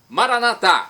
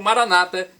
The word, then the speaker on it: Maranata: aramaico dialeto de Jesus Maranata como dizemos nós católicos ou Maranata com a tônica na penúltima sílaba como dizem nossos irmãos separados os evangélicos ou protestantes não importa a pronúncia